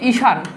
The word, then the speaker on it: ঈশান: ধরো আমি বললাম যে ঈশান এই ঈশান শব্দের উচ্চারণে দীর্ঘইটা রসই হবে তার মানে আমি আবার